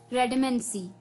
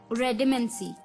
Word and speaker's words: redamancy: अब 8 वर्ड्स की हम बात कर चुके हैं, तो चलिए द 9th word for the evening is रेडिमेंसी। रेडिमेंसी, जी हाँ दोस्तों, रेडिमेंसी, REDAMANCY, रेडिमेंसी।